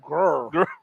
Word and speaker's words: Greer: You know how the locals pronounce it, Diesel? Grr. Grr.